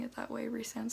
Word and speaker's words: Rhysand: pronouncing it that way resound sounds so much better and like race sounds so much better than rice like stupid but i